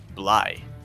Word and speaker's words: Bly: To Zanye Game Guild, he is Bly, not Blee.